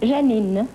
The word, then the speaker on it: Janine: Janine, is that the way you pronounce it? Janine. Janine, huh?